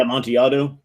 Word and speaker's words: Amontillado: Well, you sent me a couple of that how do you pronounce it? Yeah, Amontillado.